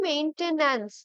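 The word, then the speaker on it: maintenance: আচ্ছা, তো দেখো মেইনটেন্যান্স যখন আমরা বলি, main, M এ আই N, main, তারপরে টেন অ্যান্স, তাই তো? এইভাবেই আমরা প্রোনাউন্স করতে পারি, আর একদম কারেক্ট স্পেলিংটা কিন্তু আমরা মানে সিলেবেল ভাগ করে বলতে পারি। মেইন টেন অ্যান্স, ঠিক আছে? মেইন টেইন, টেইনটা হয় না, টি এন, টেন হয়।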